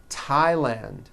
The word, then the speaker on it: Thailand: Although these next words and names are spelled with a thron if they were spelled with a normal t like that. And these words are Thomas, Thompson, Teresa, Thailand, Tames, like the river, Esther, and time, which is a spice.